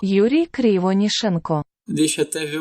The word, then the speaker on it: Krivonishenko: Conseguiu a pronúncia do nome do cara, o outro Yuri? Krivonishenko. Yuri Krivonishenko. Yuri Krivonishenko.